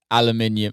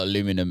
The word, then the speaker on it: aluminium: buys a seven foot aluminium or aluminum as you americans say um sculpture